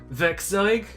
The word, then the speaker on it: werkzeug: in this library, which, if my German pronunciation is at all close to correct, it's pronounced werkzeug.